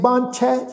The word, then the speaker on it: बांछै: काहू, काहू फल की इच्छा नहीं बांछै। इच्छा ऊपर अदक लगा के इच्छा, इच्छा नहीं बांछै। बब्बे नूं कन्ना उपर बिंदी लगा के उच्चारण करांगे जी बांछै, चाहना।